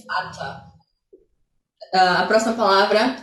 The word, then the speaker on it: Vater: Que eu não sou, não sei pronunciar o inglês britânico direito assim, não tenho sotaque britânico, mas seria algo como fada.